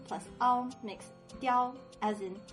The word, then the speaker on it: 嗲: Then the plus e plus a makes dia, as in 发嗲, which